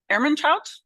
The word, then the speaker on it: Ermentrout: I would invite Ilona Sotova and Rudiger, Ermentrout. Am I pronouncing it?